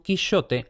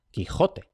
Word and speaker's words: Quixote: hubiera preferido leer el título de su quichote a la antigua, aun cuando él ya pronunciara de forma cotidiana Quijote. Y esto, Cervantes podría haberlo leído Quichote como una especie de guiño a la pronunciación que habría tenido el protagonista de su novela.